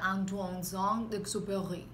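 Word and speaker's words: Antoine de Saint-Exupéry: Esa es la el libro que fue escrito por Antoine Saint-Exupéry. ¿Lo dije bien? Bueno, en español sí, pero en dice español, un sí. Compañero que se pronuncia Antoine Saint-Exupéry.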